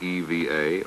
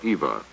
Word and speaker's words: EVA: Some were uncertain whether you said EVA or EVA, but regardless of the pronunciation, it would become an abbreviation of our time.